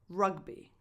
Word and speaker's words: rugby: Number 5, rugby. Rugby. Ra. Ah. Same vowel that you have in the word sun.